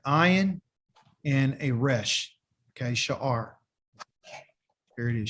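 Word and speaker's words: שער: Sha'ar. Here it is, sha'ar. There's another word called sha'ar, but it's a shin, an aleph, and a resh. Okay, they're both pronounced exactly the same.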